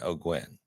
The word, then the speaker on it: O'Guin: I was thinking O'Gwen. Boom, you nailed it. I did? Perfect. O'Gwen. Thank you. Oh, O'Gwen.